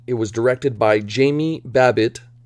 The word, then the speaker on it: Babbitt: was directed by jamie babbitt rhymes with rabbit written by sam bain